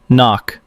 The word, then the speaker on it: NOC: Non-official cover. Knock. Pronounced knock.